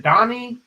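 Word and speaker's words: Dahni: Danny sent right right is it Danny or is it Donnie it I always pronounce it Danny but it's actually Donnie because you know German German okay it's like d a h n i that's how I picture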